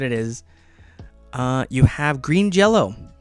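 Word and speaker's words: Green Jellö: through a list here um but it is pronounced green jello so that's limited to 1500 copies and it's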